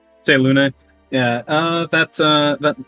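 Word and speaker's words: Selûne: giggling a little bit it's pronounced say luna say luna yeah uh that uh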